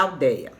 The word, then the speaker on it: aldeia: vamos lá antes eu fui ver como é que se fala a ideia ou aldeia tá então é a mesma e é pronuncia-se como idéia epopeia e assembléia então é da aldeia tá bom vamos lá